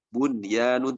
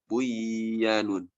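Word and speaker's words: بُنْيَانٌ: Bunyanun tidak boleh dibaca buyanun.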